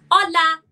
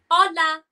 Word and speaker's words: hola: So we say hola, the H is silent, hola, hello, hola.